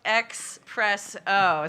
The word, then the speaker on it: Xpresso: to pronounce espresso no so it's x press oh so that's the video reference the x and the oh i think we